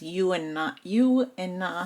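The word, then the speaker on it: Juna: So again, she has U and Na hair. That's why it's pronounced.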